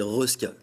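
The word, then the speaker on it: Resca: Tout de suite, c'est Reska. Ah, Reska, ah oui. Depuis le début. Caresse, ça marche moins bien. C'est R-E-S-C-A, voilà.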